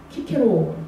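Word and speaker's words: Cicero: 나르시스 이게 그 그리스로 읽으면 키가 키케입니다. 키케로 때. 근데 그걸 영어로 읽으면 시세로거든요. S로 읽죠. 그래서 나르시스는 영어식의 발음이고 나르키소스 하면 그리스식의 발음입니다.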